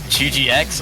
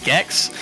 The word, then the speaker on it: GGX: Yeah, and a bit unrelated, but I was told yesterday that apparently the player in the top left spot is not actually pronounced GGX or GX or any of that. It's actually Gex.